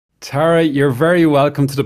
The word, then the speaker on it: Tara: it to you well I used to say it like Tara but then when I moved here I was informed by rosheen Garvey that I was saying it wrong my whole life okay and she said no it's Tara so so you've adopted it